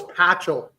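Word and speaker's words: Pachal: flam nice any chance super what no it's patchel suppose you didn't have him in there who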